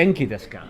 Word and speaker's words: お元気ですか: genki desu ka? Okay, Sorry to be fussy for the pronunciation.